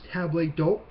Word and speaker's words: table d'hôte: Now, I know I'm jumping a little bit ahead in the text, but the last term is table d'hôte, which that's the way it's pronounced.